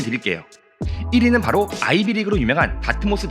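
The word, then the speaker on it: Dartmouth: 1위는 바로 아이비리그로 유명한 다트모스 대학교입니다. 영어 발음으로는 다트머스.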